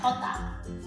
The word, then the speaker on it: jota: 如 bien、vida、italiano。J 嘅西班牙文係 hota，佢嘅發音就同頭先